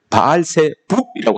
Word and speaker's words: 바알세붑: 그래서이 왕이 바리새우를 찾아갑니다 바알세불 찾아갔는데 발색에서는 바알세붑이라고 합니다 바알세붑 새북북은 여러분 주